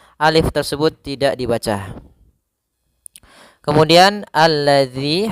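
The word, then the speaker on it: الذي: tersebut tidak dibaca kemudian alladzi hati-hati dalam pelafalan dalal di sini ada huruf Zal bukan huruf Zai ya kebanyakan kita kadang-kadang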